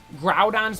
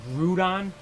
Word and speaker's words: Groudon: how he pronounced Gengar groudon's one I hear a lot of people say Groudon it's Groudon ground but you don't see the groomed it's ground um Rayquaza people say Rayquaza